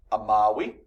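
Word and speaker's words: amavi: So that's pronounced amawi, amawisti, amawit, amawimus, amawistis, amawerunt.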